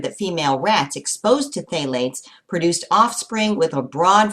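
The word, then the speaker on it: phthalates: you're tasting Plastics contain phalates and you pronounce that with the pH silent you may have heard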